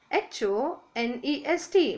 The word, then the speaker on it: honest: An honest spelling is Honest, but H is silent. So honest, O sound.